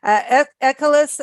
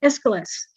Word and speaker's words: Aeschylus: The one painting that I wanted to talk about is you're gonna pronounce it for me. Ecolus and Hercules. Did I say that right? Yes, I didn't. Aeschylus.